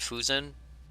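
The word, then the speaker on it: Fouzen: By the way, they pronounce it Fusen. I pronounce it Fausen, so they're probably pronouncing it correctly.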